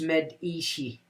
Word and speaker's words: Medici: Medici pronounced Medici.